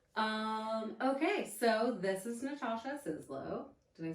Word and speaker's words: Sizlo: Okay, so this is Natasha Sizlo.